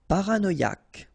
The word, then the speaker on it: paranoïaque: Paranoïaque. Okay, remember, Q-U-E, K, ac. Paranoïaque. Paranoïaque.